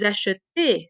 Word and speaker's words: achetez: consonant, there's another E, but we pronounce this vous achetez. So there is a sound, A, after the T, so we don't need the accent grave.